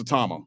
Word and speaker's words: Tama: Yeah, it's Atama.